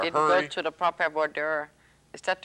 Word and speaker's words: voir dire: They didn't go to the proper voir dire. Is that how you pronounce voir it? Voir dire.